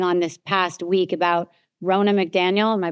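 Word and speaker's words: Ronna McDaniel: I wanted to talk to you about what has been going on this past week about Rona McDaniel. Am I pronouncing her name right?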